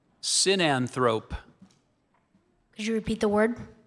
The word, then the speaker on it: sinanthrope: Sinanthrope.